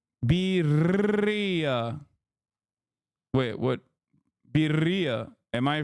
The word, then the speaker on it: birria: Oh, it's birria. Wait, what? Birria. Am I saying it wrong? Roll the R more? Fuck you mean? I'm rolling it.